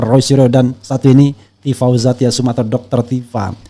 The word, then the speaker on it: Tifauzia: Ya, bukan Tifauza kan? Tadi saya Zia sebenarnya, tapi saya agak sembunyikan sedikit. Jadi Tifauzia Tia Suma, S-nya double ya kan? Nah, ini pronunciation betul tuh Tifauzia Tassuma. Benar.